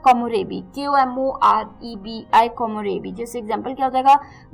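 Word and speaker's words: 木漏れ日: बहुत धूप है, तो उसे हम कहते हैं कोमोरेबी.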